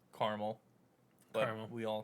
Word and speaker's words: Carmel: there's a there's a town in new york pronounced carmel but we all call it caramel no no